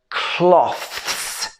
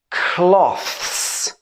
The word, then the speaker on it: cloths: then we have cloths so this is the same but with a s sound on the end let's say this word cloths cloths a little difficult this